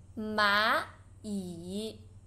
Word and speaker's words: 蚂蚁: Again, there's two third tones. You should pronounce the first one to second tone. 蚂蚁.